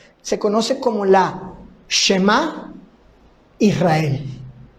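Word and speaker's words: שמע ישראל: Este texto de Deuteronomio capítulo 6, verso 4, se conoce como la Shema Israel. Shema Israel. La palabra que estoy pronunciando por Shema en hebreo quiere decir oigan,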